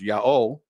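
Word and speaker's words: Ἰαώ: out of Greek the Divine name is correctly pronounced Yao and nothing else this Trump's all the professional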